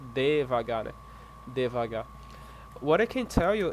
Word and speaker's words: devagar: Divagar is like regions of Brazil that pronounce in this way.